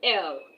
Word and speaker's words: elle: Elle.